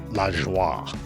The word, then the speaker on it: Lajoie: Clearly, it's of French origin, so with the French phonetics, it should be, I guess, Lajoie, which is actually how Nap preferred it. But from what I've read, it was likely pronounced at the time as Lajoie, or Lajoie, or Lajoie, or something like that.